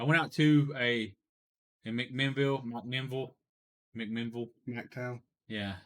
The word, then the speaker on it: McMinnville: out to a in McMinnville McMinnville McMinnville McDowell yeah like there's so many Vegas it's spelled mcmenville but uh the vocals call it McMinnville the math capital I